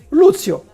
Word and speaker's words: Lucio: de l'intro ça alors Lucio qui est Lucio Lucio Lucio enfin moi je prononce Luzio qui est Luzio donc